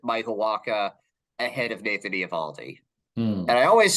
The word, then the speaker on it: Eovaldi: Yeah, and you brought up a guy for a lot of teams that I have consistently put Michael Wacha ahead of Nathan Eovaldi.